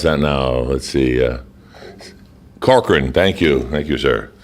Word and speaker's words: Corcoran: How would you pronounce that now? Let's see. Corcoran, thank you, sir. Corcoran, Steve Corcoran.